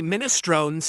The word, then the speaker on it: minestrone: In Italian, it's pronounced minestron. That is absolutely correct. Someone said that in the kick chat, and they're actually smart. That's the Italian pronunciation. Minestron.